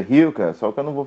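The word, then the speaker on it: Rilke: A pronúncia correta é Hilke, só que eu não vou ficar com essas frescuras aqui, né?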